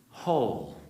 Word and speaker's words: whole: a hole and being whole, being full, healthy, vibrant, healed, the only difference is one silent letter. Now, what is this letter? It's a W.